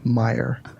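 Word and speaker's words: Meijer: Well, but they're Illinois is pronounced. It's not Illinois. It's Illinois, and Myers isn't Myers. It's Meyer.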